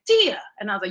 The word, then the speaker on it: Tia: And he's like, Tia. And I was like, yes. And he was like, it's your name comes from the goddess, the Greek goddess Thea, which is why in Spanish it's pronounced that way.